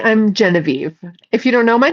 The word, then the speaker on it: Geneviève: If you don't know my name everybody, my name is Genevie. I am in the United States in a state called Nevada. One of the most barren, empty states in the entire continent. Yes, it is spelled Genevieve.